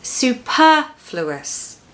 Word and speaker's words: superfluous: As far as the pronunciation is concerned, just make sure that you stress the second syllable. So it's superfluous.